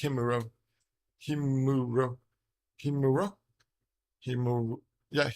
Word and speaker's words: Himuro: the same thing like if you are an American you would read High Muro High Muro instead of himuro because most words in